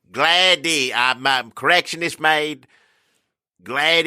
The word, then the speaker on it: Glade: Glade is a proper pronunciation.